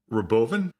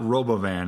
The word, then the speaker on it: Robovan: Well, first of all, Grayson, it's Robovan. I think that's how Elon pronounced it. That's his version of aluminium. So it's not Robovan, it's Robovan. But yeah, the Optimus, the